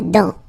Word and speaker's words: dent: La dent, final T not pronounced. La dent.